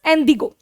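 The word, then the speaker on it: indigo: ठीक है, बस इसकी प्रोनाउंसिएशन मतलब बदल जाती है, दैट इज एंडिगो।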